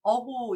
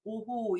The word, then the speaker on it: 오호: 11번째 어조사 어자는 다 아실 텐데 이 어조사 어자가 탄식하다는 뜻으로 쓸 때는 오라고 발음을 하는데 오호라 이럴 때 발음을 어호 이렇게 읽지 않고 오호 이렇게 읽거든요.